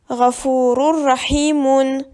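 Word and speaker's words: غفور رحيم: On ne doit pas le lire roun, on le prononce rou, ce qui donne Ghafurur Rahimun.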